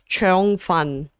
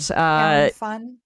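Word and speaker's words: 腸粉: Um, but the Cantonese pronunciation of the dish is cheong fun, and Chown fun. cheong. Chown fun. You're close.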